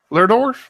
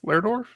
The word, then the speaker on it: Lerdorf: How do you pronounce Rasmus's last name? Lerdorf. Lerdorf.